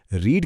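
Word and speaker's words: read: रीड की spelling तीनों forms में सेम रहती है। पर इसकी थर्ड फॉर्म का प्रोनाउन्सिएशन रेड होता है। जैसे रंग का नाम।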